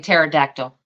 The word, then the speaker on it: pterodactyl: yes I was saying pterodactyl yeah well you just you just want to talk about the silent be that's a silent P yes yeah uh Roger